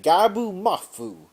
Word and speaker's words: Gabu Mafu: So Gabu Mafu, and yes, that's how you pronounce his name, Gabu Mafu. That's how I pronounce it.